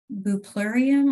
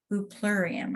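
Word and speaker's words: Bupleurum: So it's BUPLUREUM, buplurium, I think is how it's pronounced.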